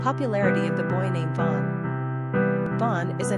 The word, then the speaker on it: Vaughn: 6 letters yet only 1 syllable.